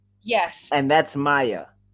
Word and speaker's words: Maye: get perfectly technical it's m-a-y-e-t in french okay so for english it's pronounced maya for english she's like